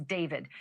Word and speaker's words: D4vd: That fact has got to be hitting home tonight, literally, for the singer known professionally as David, spelled D4vd. I know it's strange, but it's pronounced David.